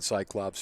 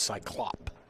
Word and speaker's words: Cyclop: I've been saying Cyclops for years, and Ken Shuman just corrected me and told me it's Cyclop.